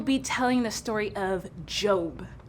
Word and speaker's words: Job: today we will be telling the story of job it's pronounced job i'm pretty sure it's job hey potato potato